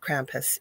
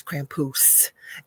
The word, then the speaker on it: Krampus: Laurel and he said you say it wrong it is not Krampus it is Krampus and uh told me